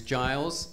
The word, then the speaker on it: Giles: you thank you charles my name's giles and my name rhymes with miles smiles and piles that's the one people